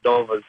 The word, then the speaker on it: Dellavedova: be a little bit annoying that you say doa's name wrong it's DOA oh okay that's come on